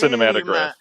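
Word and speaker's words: Cinématographe: The accent's on the middle E, actually, not the end. It is pronounced Cinematograph. Cinematograph.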